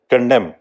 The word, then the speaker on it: condemn: कंडेम, CONDEMN, कंडेम, इसमें N silent है.